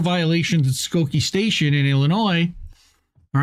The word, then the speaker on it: Illinois: again with a strongly worded letter Sor where Illinois where ski where sorry you were mispronouncing that state you know you are Illinois